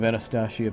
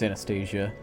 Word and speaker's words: Anastacia: said her name's Anastasia I've been saying it wrong I don't know why I liked the sound of anastacio but it's anastasia like aggression royal family Anastasia I guess that's what